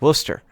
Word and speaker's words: Worcester: And I said, well, how do you pronounce it? And he said, it's Worcester.